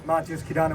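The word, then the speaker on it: Matyos Kidane: Good afternoon, my name is Matyos Kidana with the Stop LAPD Spying Coalition. That's spelled MATYOS-KIDANE.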